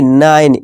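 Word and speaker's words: nine: इस तरह नाइन, नीने नहीं नाइन, ई को भूल जाना, ई का कोई अपना उच्चारण नहीं होगा, ये भूल जाओ।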